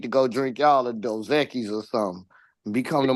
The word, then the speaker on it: Dos Equis: Hey, And it is not Dos Equis, it is pronounced Dos Equis.